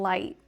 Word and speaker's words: light: So, here we have right and light.